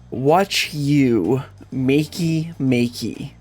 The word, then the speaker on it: Wachumeqimeqi: pronounce it a bit differently is watch you makey makey. Yes, I'm serious. That's actually what it's supposed to be. And so you could make the argument that that's how I'm supposed to be pronouncing it, but you know that doesn't really make sense considering the way that they pronounce keys and stuff. So, I'm going to call it watch you Mecky Mecky and we're going to roll with it.